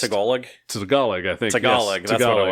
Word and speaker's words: Tagalog: But that's not how it's Is pronounced. it Tagalog? Tagalog, I think. Tagalog, yes.